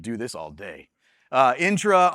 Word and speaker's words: Entra: Uh, intra entra. I've heard every pronunciation of this one. It is intra just just so y'all know.